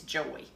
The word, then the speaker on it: JOI: But it is an amazing product, and the name of it is Joy, and it's spelled J-O-I.